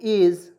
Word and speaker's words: edge: देखिए EDGE इसको पढ़ेंगे एज, और यहाँ पे डी